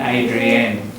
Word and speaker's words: Adrienne: Same as Adrian and Adrienne. Adrienne is your girl? Yeah. Adrienne is Yeah, and it's spelled E-double-N-E, it's more the French pattern.